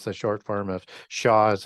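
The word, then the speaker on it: Xia: is x i it's the short form of Shaw as it's pronounced the shaw Dynasty and he's from the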